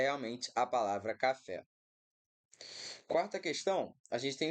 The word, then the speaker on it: café: Café, a gente, de forma alguma, vai ter café com uma proparoxítona, né? Porque a sílaba tônica aqui é a última.